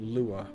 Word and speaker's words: Lua: that at all oh UA is a programming language pronounced Lua ah I see is